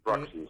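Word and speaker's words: Raksin: Sinfónica tocando la música de David Ratkin, Ratkin, ¿lo pronuncio bien? Sí, Raxin, sí.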